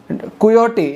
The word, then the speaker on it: Quixote: going to see today coyote is q-u-i-x-o-t-e x is silent um mostly x's are silent i'm serious so you